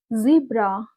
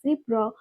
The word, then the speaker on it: zebra: Recently, I learned this word zebra. I was so shocked to see this pronunciation zebra, zebra, because growing up, like in my childhood academics, I always learned like zebra, zebra.